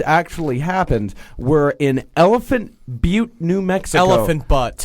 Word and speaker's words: Butte: does not like us misusing the term butt. It's Butte, and you're dumb enough to name your town.